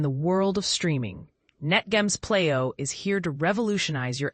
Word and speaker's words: PLEIO: The Playo, a streaming sensation, the Playo, pronounced as Playo, is the culmination of NetGM's vision.